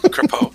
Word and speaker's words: Crapo: I think he said Crapo, I think is what he pronounced the guy's name. So that's my first thought. Oh, there you go. Crapo.